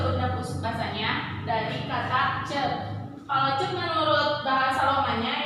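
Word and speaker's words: ceuk: Nah, kata cek ini ada C-E-U-K, dibacanya cek, bukan C-U-K ya.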